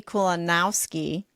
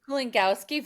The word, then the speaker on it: Kulongowski: I am joined by Kulunowski. Did I pronounce it right? Kulongowski, very close.